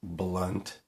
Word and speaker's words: Blount: it's brad blunt and it's pronounced blunt uh killer maker if